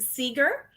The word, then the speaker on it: Segur: your last name and we pronounce it Seeger just like Bob Seger and the Silver Bullet Band or Pete Seeger um but I have